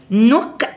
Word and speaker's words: knock: knock down wall، وحرف برضو الكي مش بيتنطق، اوكي؟